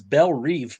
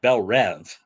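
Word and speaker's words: Belle Reve: thought it was interesting she said it was belle reeve prison which is how i always pronounced it and everybody always pronounces it belle rev oh i've always pronounced it bel reeve yeah um i think in the in both of the suicide squad movies i think they said bell rap so i i just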